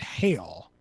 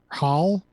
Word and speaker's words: Hal: bit yeah what bit I don't know how to pronounce his name I just saw it written down it's h a l how I thought it said h a a l that's what I wrote down no it's just how sorry I don't